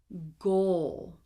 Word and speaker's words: goal: Goal, okay? Goal, okay? It goes from the G to the O to the dark L, okay?